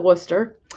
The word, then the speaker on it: Worcester: Royal W it's Royal Worcester that's how I pronounce it because that's how you say Worcester if you're from New England um focus focus there